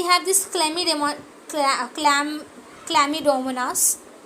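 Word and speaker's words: Chlamydomonas: Have this क्लमिड क्लम क्लमडोमनास we have this क्ल मी okay सी सी सी सी सी सी सी एच चमी नहीं बोलते हैं उसको क्ल बोलते हैं जो सी होता है साइलेंट होता है क्ल डोमोनास डोमो नास ओके अ ओके।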